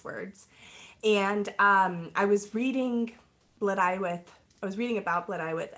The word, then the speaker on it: Blodeuwedd: and I was reading Blodeuwedd. I was reading about Blodeuwedd, and I remember trying to say her name is like Bottlewood, and I just was like, that doesn't sound right.